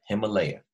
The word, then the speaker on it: Himalaya: him uh leh yeah there's four syllables when you break it down Himalaya all right so as